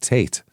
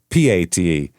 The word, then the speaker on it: Pate: Holly as well as Detective um Oh, he they misspelled Tate.